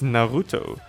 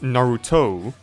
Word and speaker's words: Naruto: Stop pronouncing Japanese names in an American way. It's Naruto, not Naruto.